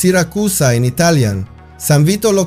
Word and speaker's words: Siracusa: And just to clarify, unlike Syracuse, which is pronounced Siracusa in Italian, San Vito Lo Capo is pronounced exactly as it is written, but with a strong Italian accent.